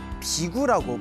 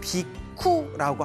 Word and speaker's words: 비구: 부처님의 머리를 깎고 출가한 제자들을 비구라고 부릅니다. 비구. 그래서 인도에서는 비쿠라고 합니다.